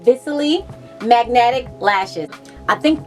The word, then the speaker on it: Viciley: be doing a review on these lashes called Viciley Magnetic Lashes. I think it's called Viciley. I just want to make sure I'm pronouncing it right, but it's spelled V-I-C-I-L-E-Y.